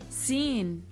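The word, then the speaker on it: سين: Sin. Sa. Like the S in C.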